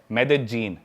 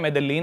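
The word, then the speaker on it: Medellín: उसकी एक सिटी है मेदजीन स्पेलिंग में उसमें डबल एल आते हैं मेदलीन होता है लेकिन कोलंबन स्पेनिश में ल को ज बोलते हैं तो मेदजीन वो शायद उसकी मेन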